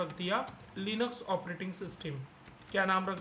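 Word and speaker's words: Linux: तो बहुत सारे लोग इसको लाइनक्स भी बोलते हैं, लाइनक्स। तो आप लाइनक्स बोलोगे तो भी चलेगा, बट प्रॉपर प्रोनाउंसिएशन होता है लिनक्स।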